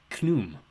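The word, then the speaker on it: Khnum: That'd be pronounced Knum, I suppose. Rhymes with kaboom.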